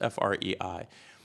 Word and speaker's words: Frei: and it's an author, I don't know how to pronounce her name, Frances Frei or Frances Fry. It's Frei.